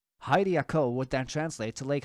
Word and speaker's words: Hylia: The reasoning thus being that if the Hai sound from Hairaru is translated to a high pronunciation for the English term Hyrule, then that same translation logically also applies when translating the Hai from the Japanese Hylia to the English Hylia or Hylian.